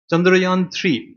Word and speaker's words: চন্দ্রযান: চন্দ্রয়ান 3, ভারতবর্ষের এর আগে দুটো মিশন ছিল, চন্দ্রয়ান 1 এবং চন্দ্রয়ান 2। ইয়ান বলছি কেন, ওটা সংস্কৃত এরকমই উচ্চারণ।